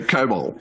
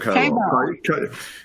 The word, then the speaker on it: COBOL: Why are languages like COBOL still in use? Did I pronounce that right? So COBOL. Everyone calls it COBOL. Common something business-oriented language. Common business-oriented language, COBOL.